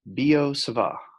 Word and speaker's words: Biot-Savart: is the law of Biot-Savart. BiotSavart, the T is silent, it's French, you don't say half the letters.